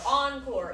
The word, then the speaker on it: encore: Encore. It means they want the cast, the pop star, the musicians, whoever to give them more. So, a good way to remember encore is it rhymes with more.